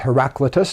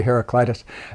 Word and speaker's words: Heraclitus: In England, he'd be pronounced Heraclitus, but over here many people say Heraclitus, so I'm going to use that pronunciation.